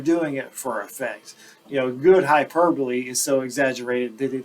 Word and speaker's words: hyperbole: Okay, next word, it looks like hyperbole, but it's pronounced hyperbole, kind of similar in pronunciation to simile.